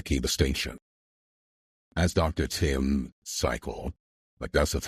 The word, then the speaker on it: Pychyl: Tim Cycle, that's how you pronounce this guy's name, Pychyl, puts it, all procrastination is delay.